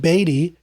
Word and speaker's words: Beatty: do you pronounce it i pronounce it uh baby i think baby's probably audiobook robbins was in the audiobook and he said beatty so i trust he is correct and the player we'll